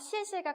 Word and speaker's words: 谢: 그래서 X가 내 찌치시에서 시 발음이었지 이에 그러니까 시에라고 경성이니까 시에 가볍게 읽으면 되겠구나.